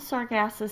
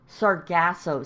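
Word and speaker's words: Sargasso: you know what the sargasses C is I do not know what the sarasus C is okay so I'm probably saying it wrong cuz it's the saraso C sasos so I found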